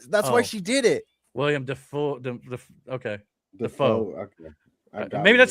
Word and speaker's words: Willem Dafoe: Willem Dafoe? DEFOOR. I know, but that's why she did it. William Defoe.